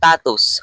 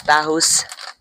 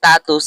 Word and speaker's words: Tattoos: to pronounce this thing, it pronounced tatus, okay? I don't care to the people who call this tahus. I'm going to say it. WL manufacturer who manufactured this thing confirmed that this pronounced tatus and not tahus.